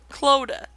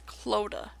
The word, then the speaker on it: Clodagh: Yes, I finally figured out how to say her name. It's Clodagh. For the longest time I've been struggling, I finally learned that it was Clodagh.